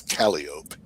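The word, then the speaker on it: calliope: get some cali music which the proper pronunciation proper circus pronunciation is Caliop Caliop.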